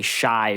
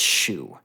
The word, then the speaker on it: Xu: get it and then as an American you want to say shy because that's usually how you would say it if you totally like translate it but it's not it's a product of Japanese romanization it's Xu mm-hmm it's supposed to